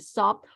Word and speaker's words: stopped: Of course, stopped. Stopped with a T at the end.